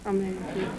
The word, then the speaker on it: Medici: Medici. M-E-D-I-C-I.